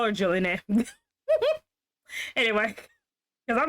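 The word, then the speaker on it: Jolyne: just Venom he's like see yolene is how you pronounce they aren't superum their Spirits are I'm still going to call her Jolene anyway because I'm not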